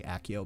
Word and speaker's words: Accio: and then we learn SEO imma say it like the book SEO they're gonna say accio but either way but cool cool you